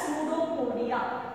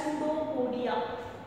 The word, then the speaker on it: pseudopodia: So this is the structure as you know called as pseudopodia. See the spelling, students. P is silent. It is called as pseudopodia.